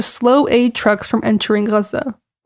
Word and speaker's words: Gaza: aid trucks from entering Gaza. I'm noticing right now that I'm interchangeably using Gaza and Gaza. Gaza is just how you say it in Arabic, so FYI, if I jump around, my apologies.